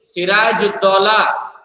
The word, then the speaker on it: Sirajuddaulah: Pronounce it with me. Sirajuddaulah.